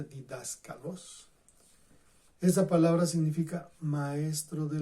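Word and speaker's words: διδάσκαλος: Pero en la que aquí se usa, se pronuncia didáskalos.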